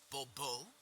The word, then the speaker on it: Bobo: fine Monsieur de Bobo the emphasis falls on the last syllable Bobo mm-hmm see now I'd